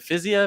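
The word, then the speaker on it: Fiziev: pronunciations but you know i asked rafael how do you say your name and i said is it physio and he's like yeah i think rafa is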